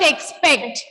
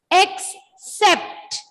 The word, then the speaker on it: except: Except, E-X-X-C-E-P-T, sept. It's not expect, except. Except. Yeah, we say September, right? Sept. The same sept is used here. Except.